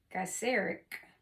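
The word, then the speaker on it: Gaiseric: rumors swirled about that geeric uh gaser it's spelled like g a i s e r i c gaser gaser okay I'm going to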